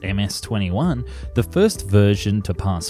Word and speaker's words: MC-21: competitor in their words the mc21-300 pronounced ms-21 the first version to